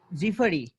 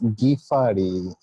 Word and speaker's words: Gifari: Zifari, Abu George Zifari. Okay, I'm here. How are you? Okay, how are you, Zifari I'm Shahid? fine. That's great. But pronunciation is Gifari.